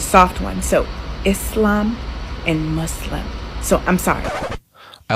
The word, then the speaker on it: Muslim: in the previous video somebody commented that I was pronouncing Islam and Muslim wrong cuz I was using a z sound instead of a so a soft s and I don't know